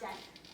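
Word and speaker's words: deque: So, a deck, pronounced deck, is a double-ended queue.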